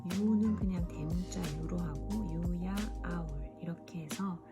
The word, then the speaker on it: UYAOWL: 그냥 대문자 유로 하고 유야 아울 이렇게 해서 제 애칭과 부엉이의 합성어입니다. 유야 아울을 처음 들으시면 유아 아울, 유아울, 유야올, 여울 이렇게 다양하게 발음을 해주시는데요. 제가 만든 합성어이고 발음은 유야 아울입니다.